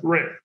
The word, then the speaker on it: Rennes: Then I got a draw, Rennes with ES is pronounced Rennes. Yeah, it's Rennes, yeah.